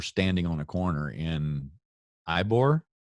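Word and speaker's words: Ybor: a corner in eibor ebory jeez you just said it to me if it wasn't spelled with a y scott i wouldn't have any problem so it could be yeah okay it's e-bor right so anyway so i'm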